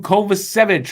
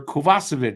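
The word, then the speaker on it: Kovacevic: an a next up Jonathan kovich or kovasovic if you want to pronounce it right gets a C+ six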